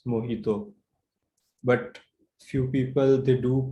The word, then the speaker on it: mojito: So this is actually a Spanish word, and it should be pronounced as mojito. But few people, they do pronounce it as mojito.